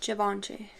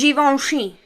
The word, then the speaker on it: Givenchy: And y'all know I don't say it like Givenchy. It's Givenchy, okay?